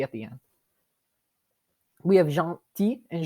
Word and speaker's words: gentil: We have gentil and gentille. Gentil is the masculine form. We don't pronounce the L at the end.